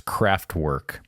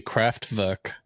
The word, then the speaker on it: Kraftwerk: I'll say that'd be Kraftwerk. Oh, I didn't see a little thing over any of the letters. So Well, W in German is a V, like pronounced as a V.